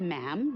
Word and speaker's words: ma'am: um and after that it's just ma'am rhymes with him and it's always a